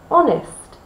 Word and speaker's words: honest: But the word honest. Honest is spelt with an H, but we don't pronounce the H.